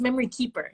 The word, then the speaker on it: memoryKPR: should uh say it's memory keeper is how we pronounce it keeper oh i apologize